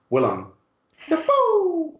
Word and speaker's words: Willem Dafoe: the phone Oh also I forgot to pronounce it correctly it's Willem Dafoe sorry yes hi mekka